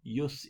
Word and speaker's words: jus: are you sad bellum yes in Bello and yes postbellum the J is a soft J so that means it sounds like a why that's just how we pronounce in Latin so I'm gonna go